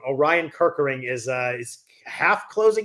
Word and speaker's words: Orion Kirkering: But Oriana Kirk, do I always say it wrong? Orion Kirkering is uh is half closing games for Philly.